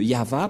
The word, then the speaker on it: Yahvah: Voilà le nom de Yahva prononcé par le grand-père Moshe, Ya, Yahva.